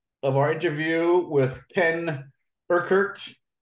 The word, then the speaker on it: Urquhart: Okay, so this is part two of our interview with Ken Urquhart. How do you say it properly in Scottish again?